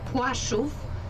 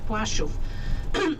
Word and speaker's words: Płaszów: will have an opportunity to pass that area, Płaszów, P-L with slash, we pronounce as you pronounce W-A-S-Z, O with comma above, it's like U-W-S-V, Płaszów.